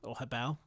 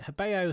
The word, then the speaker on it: Hobao: the intro I managed to convert you to Hobao.